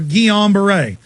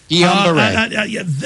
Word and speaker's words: Guillain-Barré: Am I pronouncing that right? Or Guillain-Barré? Guillain-Barré.